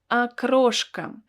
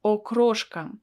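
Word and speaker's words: окрошка: don't pronounce it as okroshk because the first letter o is not stressed and that is why i pronounce it as a akroshka akroshka so akroshka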